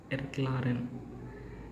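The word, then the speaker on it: erklären: And let's see an example using this tip, that is Erklaren. And the meaning of this word Erklaren, did you catch the pronunciation?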